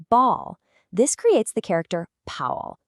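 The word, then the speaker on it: 泡: When we add the water radical, we get this character, pao, pronounced pao.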